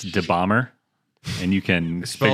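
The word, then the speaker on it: dabahmer: an instagram uh it's de bomber and you can spell that for me yeah d-a-b-a-h-m-e-r d-a-b-a so it's like jeffrey dahmer close close but more bomb more bomb yeah and i i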